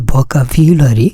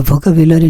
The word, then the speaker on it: vocabulary: এর উচ্চারণটা আসলে ভোকাবিউলারি। তো ভোকাবুলারি না বললে আমরা ভোকাবুলারি বললেও হবে।